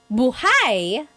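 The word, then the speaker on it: buháy: If you say buhai, the emphasis is on the second syllable. That means alive.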